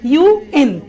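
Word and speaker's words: UN: লিখেছি, অর্গানাইজেশনের নাম লিখেছি, ইউএন, United Nations, BBC, সিএনএন, সিআইএ, আইএমএফ। সবাই খেয়াল করি, আমি এই অর্গানাইজেশনের নামগুলো যখন বলছি তখন কিন্তু আমি ইউএন আন বলছি না, বলছি ইউএন।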